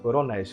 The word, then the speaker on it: coronéis: porque termina em e coronis qual é a sílaba tônica coronis exatamente coronis o